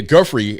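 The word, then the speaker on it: Giuffre: The email they put out today was talking about Virginia Guy, that's how you say her name.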